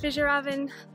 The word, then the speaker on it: Fjällräven: Today I'm going to be painting on my, I believe it's pronounced Fjällräven Kanken backpack, which means Arctic fox in Swedish as far as I know.